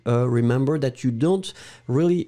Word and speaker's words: dont: Remember that you don't really pronounce the E, the final E that's strong, so troupe. And then after that, it's don. Hein, don, remember that you should write it D-O-N-T. Don.